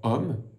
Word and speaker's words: homme: Parce que homme commence par un H muet et ensuite il y a une voyelle O.